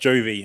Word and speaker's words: Jovi: The company is called Unlimit, not Unlimited, and it's pronounced Jovi, as in John Bon Jovi, not Hovi.